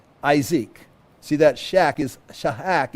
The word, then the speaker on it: Isaac: front of it and we pronounce it as isek see that Shack is